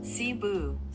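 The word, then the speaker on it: Cebu: ของ สาย การ บิน ซาบูซิฟิก ม อ่าน ว่า ซาบู ม แป๊บ นึง นะ ทุก คน ขอ เสิร์ช ชื่อ ก่อน ออก เสียง ไม่ ถูก อ่ะ มัน ต้อง หา ออก เสียง ว่า ซาบู ป่ะ อ๋อ เซบู ใช่ ไหม ซีบู ซีบู ซีบู แปซฟic นะ คะ ถ้า อ่าน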